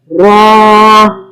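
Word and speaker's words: ر: Za, Ra. Ra is a heavy letter.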